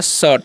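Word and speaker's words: shirt: से तो हो गया शर्ट, यानी कि आई का उच्चारण क्या कहिए अ गया, सीट नहीं पढ़ना है, ठीक है।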